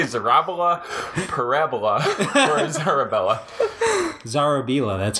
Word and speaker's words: Zarobila: Zarobila, that's how my dad pronounces it.